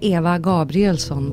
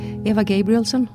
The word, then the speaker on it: Eva Gabrielsson: your name in Swedish in Swedish you'd say Eva gabrielson but that's the Swedish pronunciation if I if I myself would say it in English I'd say Eva gabrielson if the basis for